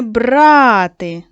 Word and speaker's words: брати: Не брати. На а наголос нічого зайвого. Але одну дорогу річ узяли. Це мобільний телефон. Давайте, дітки, з вами випишемо з тексту ці пари слів, які відрізняються тільки наголосом.